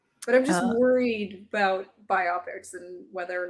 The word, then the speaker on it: biopic: because I think other I always want to pronounce it by optic but then I think every time I hear other people say it they say biopic and I'm like ah that just does not sound as cool like you went it